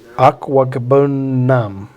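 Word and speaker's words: Okwuegbunam: How do you pronounce his last name? Say it. Aquagbunam.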